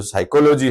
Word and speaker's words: psychology: जो ये पी है, पहला पी, पहला शब्द देखिए, लेटर देखिए, वो इसका क्या है? साइलेंट है दोस्तों, साइलेंट है।